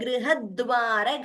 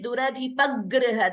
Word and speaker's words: गृहद्वार: We are not supposed to say Duradhipagriha. That is wrong because it's a very common tendency where grih is there to pronounce it as dvitvam. There is no dvitvam there.